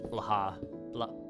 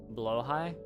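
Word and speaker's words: Blåhaj: But the J might not even be pronounced at all, so it's Blaha.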